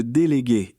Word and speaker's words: délégué: Pour la prononciation, faites attention au G de délégué et charger qui se prononce comme dans garage et le S de surcharger est doux comme dans rose.